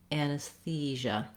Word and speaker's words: anesthesia: Generally speaking, if you start on the stressed syllable and build the word, it typically helps you get the rhythm of the word more easily. So in this case, you would try thesia, thesia, anesthesia, so that the anus is